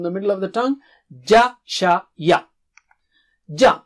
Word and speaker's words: ج: Touch the middle of the tongue. That's how Arabic Jim is. To the palate or roof of the mouth. So repeat after me 3 times. Ja.